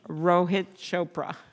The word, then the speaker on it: Rohit Chopra: for student loans and that's uh that is Rohit Chopra I said it right I really worked on